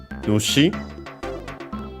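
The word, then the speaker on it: 主: Then we have Nushi. Accented also on the first syllable on its own.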